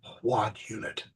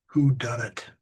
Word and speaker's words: whodunit: And it hit me that the word was whodunit. So here I'd gone the better part of a decade wondering what this word was, and I was just pronouncing it wrong. I had taken whodunit and saw it as WAD unit.